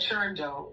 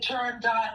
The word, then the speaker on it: Turandot: You said turando correctly, right? That's the right way to say it. People have said turandot, people have said turando,